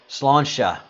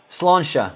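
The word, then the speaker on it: Sláinte: Slansha. Slansha. Thank you for that pronunciation.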